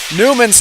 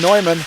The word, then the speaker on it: Newman: Persuasions, I've been pronouncing Newman's name wrong the entire game, as I was saying Neumann, adding a little bit too much European twang on that one, folks.